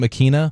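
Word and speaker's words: Ikhine: Nick Westbrook-Akine, I think is how you say his name, Akina.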